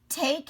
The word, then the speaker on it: take: can take a ride take has a silent e does your take have a silent e does your ride have a silent e take has a long a sound so what i want